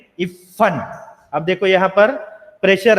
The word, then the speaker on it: इफ्फन: का correct pronunciation नहीं हो रहा है, उसका उच्चारण वो इफ्फन, इफ्फन के जगह पर इप्पन, इप्पन, इफ्फन ऐसे बोल रहा है ना।